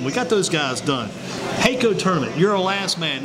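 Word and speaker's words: HAECO: Heiko tournament.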